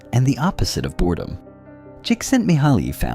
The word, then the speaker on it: Csikszentmihalyi: In the 1980s and 90s, psychologist Mihaly Csikszentmihalyi, who is pronounced roughly "cheek sent me high", developed his famous theory of flow.